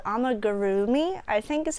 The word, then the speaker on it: amigurumi: There is a certain crochet style that people find popular called Amigurumi, I think is how you pronounce it.